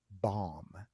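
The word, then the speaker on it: balm: we would recommend highly that they take lemon bomb lemon bomb Bomb b a l m not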